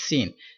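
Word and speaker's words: سين: Okay, so next letter is sin. Sin is superior letter and pronounced with whistle and stretch equal to 3 seconds.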